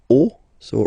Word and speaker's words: os: then it will be, the rule is that you get to put X here at the end, but then same rule, you don't pronounce it. Des os, okay?